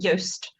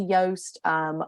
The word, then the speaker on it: Yoast: Next question from Keeping HR Simple is, do you recommend the use of something like, I think it's pronounced Yoast, on a website for SEO checking? Yeah, Yoast is really great actually.